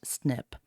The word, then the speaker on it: SNP: variable positions are called single nucleotide polymorphisms SNP pronounced snip the direct to Consumer genealogy companies use a